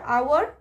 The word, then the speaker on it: hour: o u are our h is silent and k n double